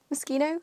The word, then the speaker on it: Moschino: designer BRS like like Moschino mosino machino mosino I'm pretty sure is the proper way to say it um incorporate a lot